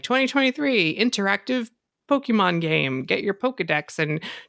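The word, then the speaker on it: Pokémon: There's a little accent on the E, so I'm always like Pokemon. Like you just barely say it. Like just say Pokemon. It quick.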